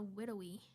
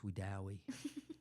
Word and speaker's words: Wedowee: I thought it was called a Widowy. No, it's Wedowee.